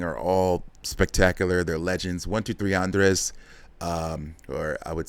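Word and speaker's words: 1, 2, 3 Andrés: 123 Andres, um or I would say, I mean, if you're going to pronounce it correctly, it's Uno Tres Andre, uh which sounds much better than 123 Andres.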